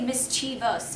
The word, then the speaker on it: mischievous: then mischievous mischievous now this is one where you're actually pronouncing it incorrectly because there is no third ey Miss chus syllables right there Mis so you could say mischievous if you wanted to not mischi oh we